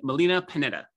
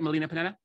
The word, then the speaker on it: Melina Panetta: am and today I have with me Molina Panetta did I pronounce that right Molina Panetta yes she did excellent Molina is a success